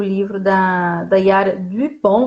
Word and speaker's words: Dupont: Então hoje nós vamos falar, né, sobre o livro da Yara Dupont. Vou falar com a pronúncia em francês, né, para ficar chique.